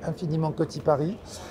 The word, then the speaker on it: Infiniment Coty Paris: That's the way, you know, we want to pronounce it, the French way, Infiniment Coty Paris.